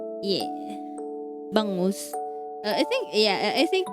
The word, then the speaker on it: bangus: I I think milkfish is the English term for it cuz the Filipino term for it is bangus. It's spelled B A N G U S. Yeah. Bangos.